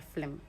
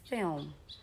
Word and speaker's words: film: or something is like you put in a vowel sound in between the L and the M, which shouldn't be the case. So there's no vowel sound there. So you just pronounce as film.